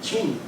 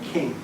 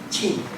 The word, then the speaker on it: Qing: Most people are calling him King, guessing that the Q is going to be doing something exotic like Qatar. Qing.